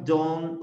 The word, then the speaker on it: don't: I don't like. Don't. Miren cómo pronuncia. Don't. Don't. Termina como en un t, t.